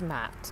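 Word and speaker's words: Ma'at: Oh, it is pronounced Mat.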